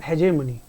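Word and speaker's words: hegemony: इसे पढ़ते हैं हेजेमनी। तो हेजेमनी की बात करें, हेजेमनी की अगर हम बात करें प्रोनाउंसिएशन, तो बेटा पैसे वाला मनी नहीं है ये पैसे वाला मनी नहीं है। तो जिसके अंदर ये MONEY आ रहा है तो वैसे गलत है, हेजेमनी।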